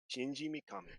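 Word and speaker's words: Shinji Mikami: a shing a Shinji I don't hold on Shinji mukami Shinji mukami there it is thank you very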